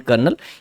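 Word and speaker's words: colonel: home wash lieutenant करना ये शब्द जो है इसमें काफी कुछ साइलेंट लेटर्स हैं ठीक है आ एक्चुअल प्रनंसीएशन लेफ्टिनेंट करना ये लेफ्टिनेंट लिखा होता है कॉलोनियल लिखा होता है डेट इस लेफ्टिनेंट करनाल ये आर्मी की एक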